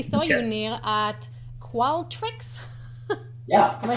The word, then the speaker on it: Qualtrics: Nir, at Qualtrics. Yeah. Am I saying it right? Yeah, Qualtrics. Qualtrics.